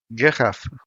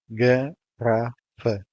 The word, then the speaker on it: garrafa: Garrafa. This is a three-syllable word that follows the general rule, so the first and last A's are shut, while the second one is open. Garrafa.